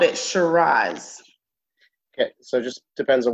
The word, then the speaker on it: Shiraz: once that's either or shiraz i say shiraz i want to straws